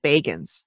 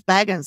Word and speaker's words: Baggins: It's Baggins. Oh, he pronounces it Baggins. Okay. And I was like, oh, I thought it was Baggins, like Bilbo Baggins.